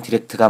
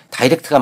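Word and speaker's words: direct: 결론은 둘 다 맞습니다. 단어가 동사로 사용되면 디렉트가 맞고 형용사나 영국식 발음으로는 다이렉트가 맞습니다.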